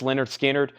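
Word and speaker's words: Lynyrd Skynyrd: analog Masters this is $ 69.99 Leonard skinnard pronounced Leonard skinnard cut from the 100% analog mastering their debut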